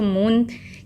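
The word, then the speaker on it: moon: मून तो नहीं बोलते, मून तो शॉर्ट हो जाएगा, लेकिन हम इसको मून कैसे प्रोनाउंस करते हैं? मून. तो डबल ओ लॉन्ग है इसमें.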